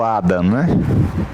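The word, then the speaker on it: hada: Eu estou dando esse exemplo aqui do Ada, que H-A-D-A, em espanhol, que é fada, uma fada madrinha, né? Né? E se pronuncia Ada do mesmo jeito.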